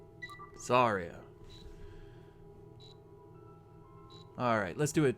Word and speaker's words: Zarya: Zatara? Assuming it is spelled correctly, and I'm assuming that it is, it's Zarya. Zarya.